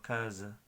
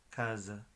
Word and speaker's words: casa: Por ejemplo, casa en español se escribe igual, pero es más flojo, es como casa, casa, z.